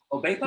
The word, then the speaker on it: Obekpa: Obekpa? Yeah, Obekpa. Yeah. Just pronounce as written.